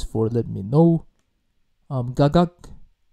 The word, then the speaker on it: กักกั๊ก: let me know um gagak so that's the correct pronunciation for for the song gagag featuring um G behind